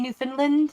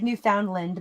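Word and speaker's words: Newfoundland: uh yeah new how do you say it New Finland new I looks like New Foundland but it's not how you say it yeah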